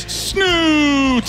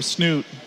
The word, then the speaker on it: Snute: fans out there and when players cheer for snoot and say his name people on stream tend to think that the audience is going boo boo it's snoot and with